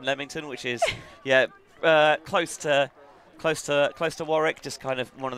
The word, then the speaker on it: Warwick: It comes out of Warwick. Of where? Is that not how you pronounce it? You'd pronounce it Warwick.